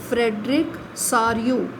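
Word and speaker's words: Frédéric Sorrieu: यहाँ पर जो नाम दिया है that is pronounced as फ्रेडरिक सारियू, जो एक विश्वव्यापी प्रजातांत्रिक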